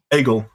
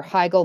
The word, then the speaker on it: Hegel: How do you pronounce his name? Hegel.